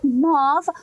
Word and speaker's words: mauve: pigment color we have mauve mauvais maava I don't know when I was visiting my mom in Louisiana apparently mom is not the actual factual correct way to say it's like mo but I oh that